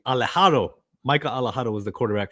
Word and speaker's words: Alejado: Micah, I want to pronounce his name correctly. Alejado.